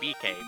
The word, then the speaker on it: Bike: I say it's correctly BK because that is how it would be pronounced in Japan.